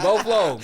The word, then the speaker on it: Beau Fleuve: I was like, Avi, it's Beau. It's like Boflo. That's how you say it phonetically. You know what I mean? Beau Fleuve.